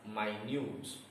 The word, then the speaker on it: minute: When it is an adjective, the word is read as minute. And the stress is on new, minute, not on the first syllable.